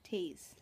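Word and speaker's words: Toews: you say his name you're very close there's no M though Tay no m tase okay here's the rundown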